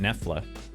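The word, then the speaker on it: Knefla: but we pronounce it nefla so the k is silent this guy's name is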